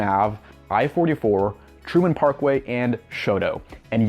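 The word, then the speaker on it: Chouteau: i-44 truman parkway and shoto and yes that is how people pronounce it here in st louis we call it shoto so like i said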